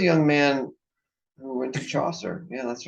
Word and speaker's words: Chaucer: Chaucer yeah Chaucer I I like Chaucer because it rhymes with saucer and I used it